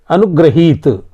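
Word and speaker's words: अनुगृहीत: अगला है अनुग्रहित। अनुग्रहित, ग्र में जो रा है यह न हो करके री लगता है, अनुग्रहित होता है। जब री का उच्चारण करेंगे तब होगा गृहीत।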